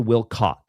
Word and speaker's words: Wilcock: David Will They they pronounce the name wrong. It's David Wilco not Cox with an it's not it's a singular It's not a plural I